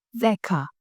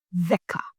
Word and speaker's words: δέκα: Remember pronunciation of delta. The. Tongue out, the.